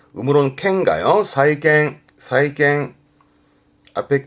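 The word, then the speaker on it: 債券: 발음은 사이갱, 음으로는 캔가요? 사이갱, 사이갱.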